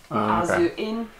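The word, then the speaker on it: AZ inn: AZ, like just A and then Z? Yeah, in Japanese it's Azu. Azu-in.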